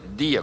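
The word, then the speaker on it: διά: com ele ar né mas pronuncia dia como se fosse o nosso dia hoje a palavra dia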